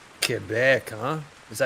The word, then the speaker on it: Quebec: Kebec, huh? Is that how you say it? Quebec. Um, if you're if you're non French, you just say Quebec. But Kebec, that's how the Frenchies like to say it.